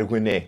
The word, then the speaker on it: Rennais: Don't underestimate Stade Rennais. You have to say it like that because it's French.